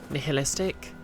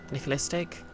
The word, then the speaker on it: nihilistic: quests can be unrelentingly, nihilistic. Nihilistic? I always forget how to pronounce Nicholas. Like, I think the H has sort of a sound to it. Nihilistic.